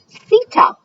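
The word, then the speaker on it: sita: the grassy savanna lands six is pronounced Seto can you say that Seto six the clothing East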